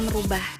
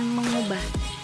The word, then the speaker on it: mengubah: Contoh yang pertama ada kata merubah. Seharusnya ditulis dan diucapkan mengubah, karena asal katanya ubah bukan rubah. Ditambah imbuhan me dengan variasi bentuk morfem meng.